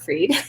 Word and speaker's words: Fried: e d spelled like fried but pronounced like freed whole mother that's what it should